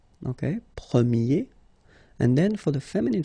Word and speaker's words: premier: And then the sound will change quite much, because if you think about the masculine form, you pronounce it premier, okay? Premier.